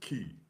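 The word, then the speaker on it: cay: K or Hinsk uh depending on you know how you pronounce the word. I you know I'm from the US so it's spelled K. I say K, but sometimes around being around them I um I say the word key.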